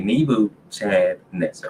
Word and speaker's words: Nebuchadnezzar: So that's why I say Nebu, Chad, Nezzar. I don't know where these people are getting Nebuchadnezzar from. That is not it. That is not pronouncing the D at all.